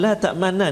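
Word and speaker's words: لَا تَأْمَنَّا: Iaitulah pada kalimah la ta'manna ni, cara baca dia ialah kita kena muncungkan mulut kita seolah-olah kita membariskan dhammah mim tu, sebab dia asalnya la ta'manuna dia hasafkan satu nun, jadi dia jadikan sabdu la ta'manna, tapi dia ada ishmam tu la ta'manna.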